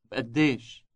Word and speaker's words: بقديش: Note the B sound at the beginning. بقديش بقديش Ask, how much is the coffee?